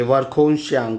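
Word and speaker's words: Verkhoyansk: के एच ओ वाई ए एन एस के वर्ख शंक वर्ख शंक थोड़ा अजीब नाम है वर्ख श्यांग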